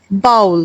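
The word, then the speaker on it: bowel: बी O double E एल लेकिन हम भी इसको आराम से बावल पढ़ लेते हैं। जबकि यह बाउल होता है।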